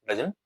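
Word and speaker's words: doesn't: डजंट matter. ठीक है? डजंट matter. डजंट हम लिखते हैं तो एम भी लिखते हैं यहां पे। फिर उसके बाद साइलेंट टी होता है।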